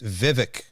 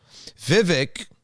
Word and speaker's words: Vivek: Any name with two V's that's short, it's two syllables, right? It's going to be a cool name. And he's got a strong, hard letter at the end.